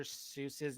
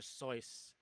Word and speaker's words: Seuss: what because apparently you're everyone is pronouncing dr seuss's name wrong right like if you've always known it as dr seuss apparently it's dr soyuz i can see it